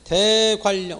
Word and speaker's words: 대관령: 것은 뭐냐 했을 때 대관령, 그렇죠? 앞에 따라가 독립적으로 쓸 수 없을 때 뒤에 니을에 연을 받아서 앞에 니을, 니을 돼서 대관령으로 쓰는 거죠. 대관령. 소리가 대관령으로 소리가 나니까요.